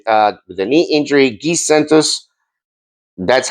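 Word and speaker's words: Giannis: Gizentos, that's how it's pronounced, by the way.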